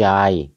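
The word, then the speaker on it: चाय: แปล ว่า ร้อน อื ชา นี่ เขา ออก เสียง เป็น ตัว จ นะ เข เป็น จานะ เ แล้ว ก็ เอา เป็น จาย ๆ ๆ กะลำ จาย เอ อยู่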